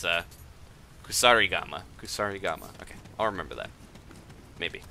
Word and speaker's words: kusarigama: It's a Kusarigama.